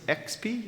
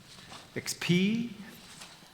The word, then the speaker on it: Expii: The next company is Expii. Did I say it right? Yeah? Expii.